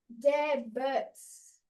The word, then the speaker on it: debt: Debts. De. What word are you looking at? War debt. Oh, debt. Yeah, the B is silent.